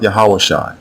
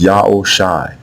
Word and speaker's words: Yaoshai: So now the way you pronounce Hoshai's name is not Yahawashai, not Yahushai, not Yehoshua, etc. It is Yaoshai, Yaoshai.